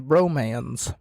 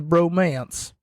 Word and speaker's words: Bromans: you heard me wrong I did not say the Bromance I had to double check and then triple check to make sure that I was pronouncing it right before I started recording the Bro hyphen mans James storm says he